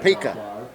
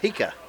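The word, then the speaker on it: Pica: Now, how you say his name correctly so I don't screw it up? He's just a sophomore. Pika. Pika. Pika. P-I-C-A, and Brian's calling him Pika.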